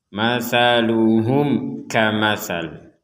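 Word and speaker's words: مَثَلُهُمْ كَمَثَلِ: Di sini ada mim sukun bertemu dengan kaf, maka ini kita baca jelas, jangan kita baca dengung. Masaluhum kamasal, jadi masaluhum kamasal, jadi jangan dibaca masaluhum ka, jadi tetap dibaca jelas masaluhum kamasalil ladis tauqada naro.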